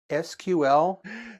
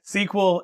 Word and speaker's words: SQL: large-scale data using sql isn't it pronounced sql sql sql either way is fine that's true maybe you're